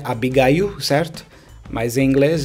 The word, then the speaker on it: Abigail: a Abigail on bom para gente aqui é Abigail certo mas em inglês é Abigail e o